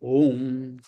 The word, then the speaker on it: Om: When they phonetically combine together, they form Om, one single syllable.